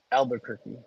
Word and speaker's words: Albuquerque: I don't know the exact way to pronounce it as far as the spelling, but mhm. everybody calls it Albuquerque.